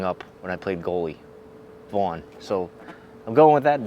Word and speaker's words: Vauen: as you can tell we're doing this by vaughan i believe it's the way you would pronounce it i'm pronouncing it the way i would pronounce the hockey pads that